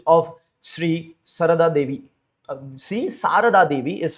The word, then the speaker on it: Sri Sarada Devi: Um Sri Sarada Devi is how you would pronounce it, who is a spiritual consort of Sri Ramakrishna Paramahamsa, right?